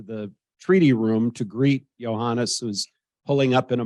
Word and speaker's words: Johannes: we're walking to the treaty room to greet Johannes who's pulling up in a motorcade any minute and on the walk Trump is saying so how do you pronounce this guy's name IO honest I said no no Johannes okay Johannes when